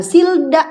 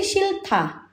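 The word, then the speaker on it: 싫다: Maka pelafalannya bukan silda bukan silta tapi silta. Silta silta ya. Aku bilang enggak mau silta. Silta gitu. Bukan silda tapi shilta.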